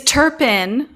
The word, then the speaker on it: Turpin: It is Turpin, sort of like turpentine, but not entirely.